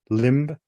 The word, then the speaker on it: limb: So, it goes com tomb, limb, climb, crumb. You know, you don't you don't even necessarily pronounce the B.